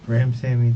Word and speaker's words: Ramsawmy: Ramsawmy, the W sound. Ramsawmy.